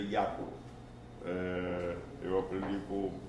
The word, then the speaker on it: Jarkko: vez, é Jarkko, mas a pronúncia em finlandês é Jaakko.